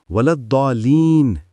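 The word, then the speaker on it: ولا الضالين: درست نہیں۔ نمبر 3، امت مسلمہ میں صحیح تلفظ صرف اور صرف ولضالین ہے۔ نمبر 4، الضالین یا کوئی اور شکل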